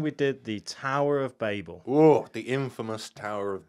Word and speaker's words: Babel: Tower of Babel, that's how I've always pronounced it, yeah.